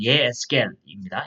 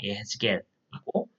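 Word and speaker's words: יחזקאל: 그래서 히브리어 성경은 에스겔 선지자 이름 따서 사실 발음을 정확하게 히브리어에 가깝게 하면 예에스겔입니다. 예에스겔이고 이런 전통에 따라서 우리가 지금도 번역을 대부분 다 성경을 영어 번역이든 다른 번역이든 대부분 에스겔 이름으로 하고 있습니다.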